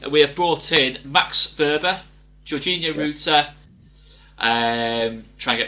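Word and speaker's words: Wöber: With the W, but it's pronounced the V. Who's your centre back? Max Verber.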